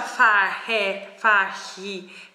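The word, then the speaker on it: Fage: si pronuncia, Dio santo, lo scrivono sempre, si pronuncia Fahe, vabbè.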